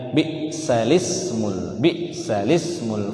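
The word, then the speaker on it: بِئْسَ الِاسْمُ: Bi'salis, bukan bi'sal ismu, tapi bi'salis, salis, ya. Si hamzah itu diganti kepada lam alif yang mati.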